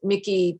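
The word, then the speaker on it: Michie: charlottesville has a mickey they pronounce it mickey tavern with numerous numerous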